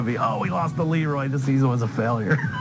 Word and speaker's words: LeRoy: Caledonia Mumford, probably the only towns that pronounce it Leroy and not Leroy. Yeah, because it rhymes better with destroy Leroy.